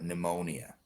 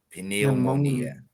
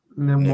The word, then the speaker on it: pneumonia: In English the P is silent. So in Portuguese you say pinemonia. In in English it's pneumonia.